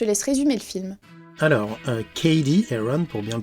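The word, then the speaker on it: Cady Heron: bien je te laisse résumer le film alors KD eron pour bien le prononcer à 16 ans jusqu'ici elle grandissait en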